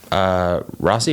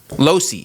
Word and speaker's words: Losi: Rossi, right? No, Losi. Losi, sorry. Losi.